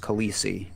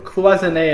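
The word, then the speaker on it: cloisonné: says no it's not cloisonne is not pronounced khaleesi that's what i thought so oh yeah it's closing a enamel technically yeah i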